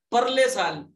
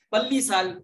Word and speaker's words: پرلے: کو کہتے ہیں گزشتہ، بعض لوگ اگلے کہتے ہیں اگلے سال، پرلے سال، پلی سال، پلی لفظ نہیں ہوتا ہے، پرلے تو صحیح تلفظ کے ساتھ بولنا چاہیے، اور آپ کو تو